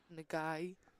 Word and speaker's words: Nagai: Zelaya checked in as Nagai. Did I say that right? Nagai, that's why I thought they said it. That's how I was told to pronounce it.